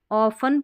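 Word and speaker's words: often: life is ऑफन, ऑफन पढ़ना है, T silent है, ऑफन, इसको फिल्ड पढ़ेंगे,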